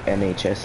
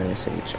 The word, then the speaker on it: NSH: I used to say NHS instead of NSH on accident.